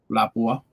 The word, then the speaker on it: Lapua: Lapua is the correct pronunciation.